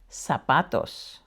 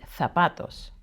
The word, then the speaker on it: zapatos: It's always pronounced as an S, except for in some parts of Spain, where they pronounce it as like the TH in thanks. Just like the letter C when I was explaining earlier. So here we have zapatos, but in Spain it would be zapatos.